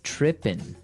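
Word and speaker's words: trippin': that this girl started tripping. Tripping. Tripping. So to trip, right? As you notice, it's tripping. It doesn't have the G at the end, which isn't really grammatically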